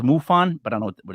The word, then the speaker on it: MUFON: author director of michigan m-u-f-n-o-n pronounced mufon but i don't know